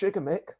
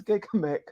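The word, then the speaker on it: Gigamech: that's very different because um this company is pronounced jigamik but a lot of people mispronounce it as gigamic okay what a coincidence that is really fascinating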